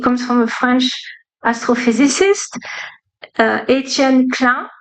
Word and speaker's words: Etienne Klein: So this example I love because it comes from a French astrophysicist, Etienne Klein. I say it right because he's French.